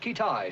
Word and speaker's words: Kitaj: Have we located this fellow Kitaj yet? Pronounced Kitai, sir.